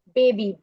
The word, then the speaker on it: baby: आपने कभी भी देखा होगा बेबी की स्पेलिंग है BABY, राइट. लेकिन साउंड क्या आती है, E, बेबी, E sound is coming. तो लेटर Y उसकी जगह आ जाता है, लेकिन साउंड E ही रहती है.